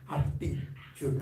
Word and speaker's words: aptitude: No, not attitude, this is aptitude.